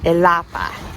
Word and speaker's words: Ilapa: on our arrival to Ilapa. No accents on any letters, which means that the second to last syllable gets the emphasis. Ilapa.